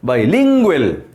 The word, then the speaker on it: bilingual: type bilingual bilingual bilingual so for second syllable is i mean stressed bilingual bilingual dictionaries this kind